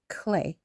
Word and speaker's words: clé: So, the word of the day today, still in the renting an apartment in Paris series on the Marin Chronicles is la clay.